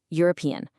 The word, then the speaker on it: European: European. It's spelled with an e, a vowel, but it starts with a u sound, which is a consonant sound.